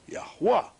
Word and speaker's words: Yahweh: So when we have the Yod, the He, the Wah, and the He, adding the vowels, A's, 2 A's, we say Yahweh, and that is masculine and that is feminine.